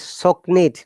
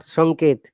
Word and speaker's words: Soknit: Yeah, Sister Hannah, his name is Soknit, not Sonkit.